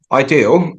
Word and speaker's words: idea-L: So, ideal um which is spelled IDEA hyphenel but we pronounce as Ideal